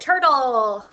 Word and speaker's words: turtle: We don't really hear this U in turt. Oh, don't forget this sneaky T here. That sounds like a D.